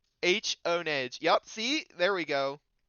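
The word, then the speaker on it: Honedge: It's not hone edge. You're wrong. Honage. Yep. See, there we go. Steelix says that's how they pronounce it in the show.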